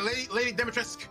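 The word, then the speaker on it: Lady Dimitrescu: Lady Demetresk, that's how it's pronounced.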